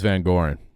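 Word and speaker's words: VanGorder: I believe it's Van Goren.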